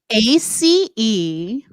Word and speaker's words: Aceline: is ACELINE. Aislinn? No, I choose to pronounce it Aceline.